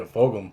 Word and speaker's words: Fulgham: Travis Fulgham? Yeah, Fulgham. Fulgham? That's how you say it?